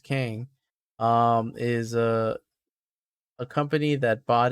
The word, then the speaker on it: Qeng: Kang with the QENG, which is still pronounced Kang, is a company that bought it from Stark in the comics.